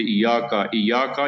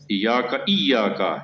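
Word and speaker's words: إِيَّاكَ: عام طور پر بعض اوقات لوگ شد کو نہیں پڑھتے، ایاکا یہ غلط ہے. ایاکا یہ شد ہے یہاں پر، ایاکا نعبد، عین جو ہے اس کا تلفظ جو ہے وہ معلوم ہونا چاہیے.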